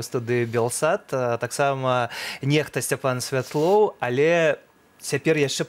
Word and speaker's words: NEXTA: Как правильно читается? Нехта или Некста? Некста. Некста правильно читаете?